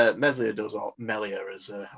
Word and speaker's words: Meslier: Yeah, I've seen how Meslier does, or Melier, as I think it's that's the way Bryn Law pronounced it. I think it's French, so it's pronounced Melier or something like that.